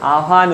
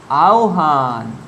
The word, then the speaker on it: আহ্বান: তাহলে হয় বয়ের সঙ্গে যদি অ বা আ তার আগে উচ্চারণ হয় তখন ও উচ্চারণ হবে, মানে আওহান।